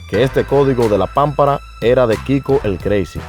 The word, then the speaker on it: pámpara: lo primero es que todos escriben pampará pero pronuncian pampará por lo tanto se están olvidando de que su palabra nueva lleva un acento en la a de la primera sílaba por ejemplo yo menor